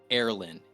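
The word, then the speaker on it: Erlyn: Erlin.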